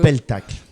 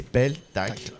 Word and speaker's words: peltacle: Le peltacle. D'accord. Alors tu vas le prononcer comme le pestacle, comme les enfants font. Exactement. Et effectivement, c'est peltacle, peltacle.